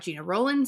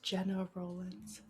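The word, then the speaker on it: Gena Rowlands: It's got Gina Rollins in it. It's New Orleans. It's just got all the makings of a very good film." That was a quote directly from him. It's Jenna Roland.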